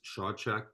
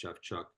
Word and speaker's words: Shawchuk: It looks like it says Shawchuk, but I was told one time that it's actually pronounced Shafchuk.